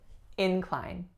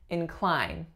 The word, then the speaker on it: incline: walked up a steep incline as a verb the sounds are actually going to remain the exact same but we are going to flip our stress pattern so we're going to say incline incline this isn't a